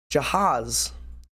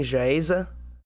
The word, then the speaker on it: Jahaz: I might not even be saying the name wrong, but I've been saying Jaeze, but it's apparently Jahaz. A lot of people are saying Jahaz, so I'm going to say Jahaz from now on, and hopefully that's right.